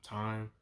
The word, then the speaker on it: thyme: Salt, pepper, paprika, thyme, it's pronounced thyme, and oregano.